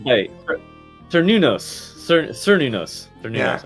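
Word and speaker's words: Cernunnos: Nobody says, "Hey, Sir Nunos, Sir Nunos, Sir Nunos." Yeah. I'm not sure. Sir Nunos. I'm Yeah, not yeah. sure The C's are always a hard C.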